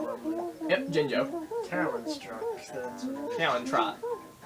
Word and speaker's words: Jinjo: Now here, we need to learn the strut to get to the Jingo level. Yep, Jinjo.